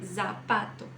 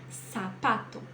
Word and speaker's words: zapato: gente erra isso tá o som da letra z não é um som que faz vibração em espanhol então eu não vou ler zapato não você vai ler como se fosse o nosso cedilha do português sempre tá então fica sapato Sara